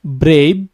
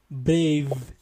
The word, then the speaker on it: brave: v So, that's why instead of saying brave, you see, brave, it will become brave.